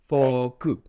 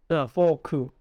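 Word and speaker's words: フォーク: Yeah, so you gotta remember to drag out the word fork. Forku. Forku. Remember ku, yeah, because Japanese, there's a K, they pronounce the K as ku. So if you don't say the ku, if you just say ku, they probably will not understand it.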